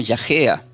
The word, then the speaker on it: yagéa: Esta palabra fatigosa se pronuncia como yajea del hebreo.